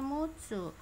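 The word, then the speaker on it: 六つ: Ini roku ya, secara Ongyomi roku ya, secara Kungyomi dibacanya mutsu.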